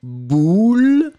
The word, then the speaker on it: boule: Ici, le premier, vous allez le prononcer comme un ou, boule.